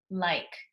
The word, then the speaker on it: like: to the eyes I like Li ke remember the e is silent you don't say the e but you have to spell it number nine is de